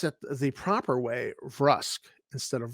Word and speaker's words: Vrusk: think it's mostly humans but let's say they pronounce it the proper way rusk instead of verse you would then be able to use in